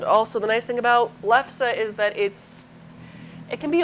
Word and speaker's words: lefse: The recipe is spelled L-E-F-S-E, lefse, and the recipe I made is inspired